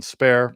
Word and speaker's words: Spare: that they said that the correct pronunciation is spar and for whatever reason